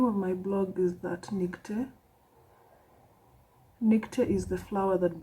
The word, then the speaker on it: ThatNicte: The name of my blog is ThatNicte.